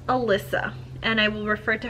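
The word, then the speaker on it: Alicia: did listen to it through audio it is pronounced Elissa and I will refer to her as such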